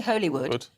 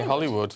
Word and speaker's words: Holywood: I didn't because it because Dougie was saying holywood but actually the locals say Hollywood yeah lovely they ought